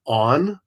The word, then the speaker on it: On: The third phase of the sun is Un, which is just the circle with the dot in the middle. And Un is where we get the word noon or afternoon from. It also could be pronounced On.